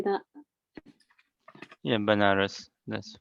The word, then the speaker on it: Banaras: bananas openers how do you say that yeah Banaras that's right promulgating the chanting of Hare Krishna